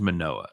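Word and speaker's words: Manoah: murdered by that time you pronounce it right it is manoa the other one is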